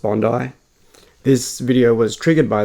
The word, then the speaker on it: Bondi: Um, Bondi, it's pronounced Bondi.